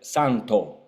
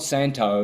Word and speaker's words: Santo: Therefore, if you're going to say my name in Italian, say it Santo, not Santo, like Dave-O and John-O and Bono and this O thing. It's only English has got this O.